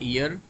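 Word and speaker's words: heir: Akbar become a ईयर। तो यहां पर एन हो जाएगा क्योंकि एच जब आप साउंड इसको करते हो तो वो आपका साइलेंट रहता है।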